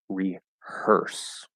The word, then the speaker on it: rehearse: are perfectly fine um defitely don't say like rehear or something like that because I know it's spelled e a r like ear but that's spelling it's reers um so it's like hers but the S is an S instead of a z uh um okay